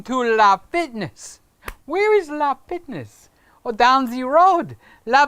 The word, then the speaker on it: LA Fitness: e OS just like ISO is ISO and la Fitness's LA Fitness even though all the Latin people around here call it la Fitness I'm going to LA Fitness where is LA Fitness oh down the road LA Fitness is down